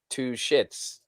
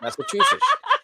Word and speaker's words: Massachusetts: girl that I learned to I used to pronounce it two shits. Yeah. Massachusetts.